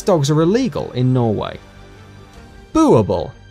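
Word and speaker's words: Boerboel: Boerbul, pronounced Boo-ar-bull, is a Dutch Afrikaans word for farmer's dog.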